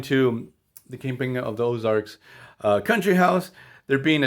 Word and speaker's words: Ozarks: king now kingpin of the orzak i pronounce that terribly kingpin of the ozarks he's this new character